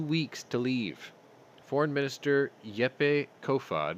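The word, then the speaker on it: Jeppe: to leave foreign minister yepei kofad i think it's yepe you don't pronounce the j said they pose a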